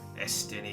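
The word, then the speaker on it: Estinien: down at top all right estan that's how you pronounce his name oh is this aian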